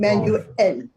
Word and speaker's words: manuell: Also, wir müssen es manuell. Wir müssen es manuell versuchen. We have to Yeah. try it manually. Remember to add a small pause. Manuell.